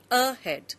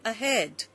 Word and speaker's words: ahead: We don't say ahead, we say ahead.